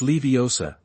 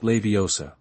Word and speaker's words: Leviosa: Besides, you're pronouncing it wrong. It's Leiosa, not Leiosa.